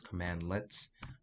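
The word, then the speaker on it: cmdlets: to see something that's spelled c-m-d-l-e-t-s this is pronounced as command let's okay so then you have some that are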